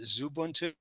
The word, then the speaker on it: Xubuntu: There's a default user called Xubuntu, or some people would pronounce it Zubuntu, and just log in with that account with an empty password.